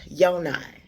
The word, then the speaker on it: Yoni: My name is pronounced Yonai, spelled Yoni, and I know you